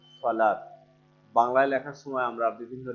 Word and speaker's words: সালাত: আজকের আলোচ্য বিষয় হচ্ছে সলাত। সলাত শব্দটি আরবি শব্দ। আরবিতে উচ্চারণ করার সময় উচ্চারণটি আসে সলাত।